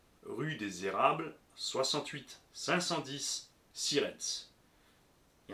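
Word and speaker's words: Sierentz: des Érables 68 510 sirens il y a un piège dans sirens c'est presque comme ça se prononce mais il y a un e de plus planqué s i e r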